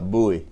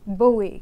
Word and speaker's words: Bowie: And tell me your last name before I mispronounce it. Bowie. Bowie.